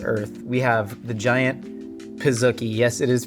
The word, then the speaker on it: Pizookie: They have officially said it is pronounced pizookie as it is a portmanteau of pizza and cookie, which begs the question, why not pronounce it pizzookie if it's pizza and cookie?